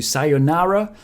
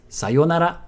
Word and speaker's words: sayonara: But my point is, if you do use it, try not to pronounce it the American way. You might be used to sayonara, but it's sayonara.